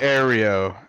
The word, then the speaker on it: Aero: It's literally Aero. He told me it's pronounced like aeroplane.